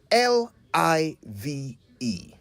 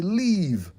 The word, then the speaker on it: live: this one for example l i v e live simple right yet we often hear people say leave when they mean live I used to think